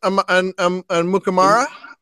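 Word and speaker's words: Amukamara: Well, there's Prince Mukamara.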